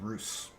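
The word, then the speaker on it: Russ: The sons of Roose. That's how you actually pronounce it.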